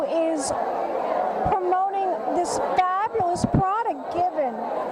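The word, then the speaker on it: Givenchy: to correct you but we actually pronounce it given like without the she at the end and the reason for that is that the product is actually produced in france so we tried to stay true to france and it's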